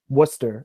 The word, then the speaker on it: Worcester: of those that's the pronunciation is so old that I don't even know the origin but it is Worcester and Worcestershire mm-hmm yeah okay Wow